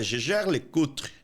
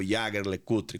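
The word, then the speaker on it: Jaeger-LeCoultre: foi a GG cutre GG cutre é a pronúncia é gger le cutre gger le cutre porque fica do lado francês da Suíça e não no Alemão então não é o yager le cutre como algumas pessoas pensam é um nome complicado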